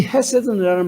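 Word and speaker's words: חסד: 그냥 헤세드는 아니고 정확하게 발음은 아주 좀 거친 발음이 나와요. 헤세드 이렇게 됩니다. 이 헤세드라는 말씀으로 언약의 사랑, 충성스러운 사랑, 변하지 않는 사랑, 지속적인 사랑이라는 말이에요.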